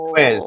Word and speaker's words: Twiz: Was it Twinks or Twiz? Twiz.